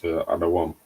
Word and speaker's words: Edom: that's how you really pronounce Adawam, Edom. Adawam.